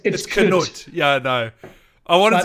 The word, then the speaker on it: Knut: Because in Danish, it's spelled with a K, Knud, and it's just pronounced Knud. Ah. So, but it's Knut in this.